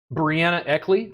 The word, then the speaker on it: Breanna Eckley: robert garner wellness podcast very happy to have brianna eckley did i say that correctly yep i ask